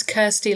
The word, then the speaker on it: Kirsty: So, my name is Kirsty. Kirsty saying it wrong. Don't worry, half of my family are American and um my dad calls me Christy even though he knows my name is Kirsty.